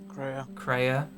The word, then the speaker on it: Kreia: representative um who's playing Korea or crayer crayer as in crayer from Knights of the Old Republic too oh God no but yes same pronunciation not the inspiration cool